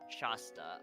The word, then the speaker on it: Shasta: The a in the first syllable is short like hat. So, shasta.